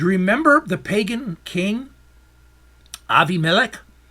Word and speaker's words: Abimelech: Do you remember the pagan king Abimelech? Some of you may pronounce it Abimelech.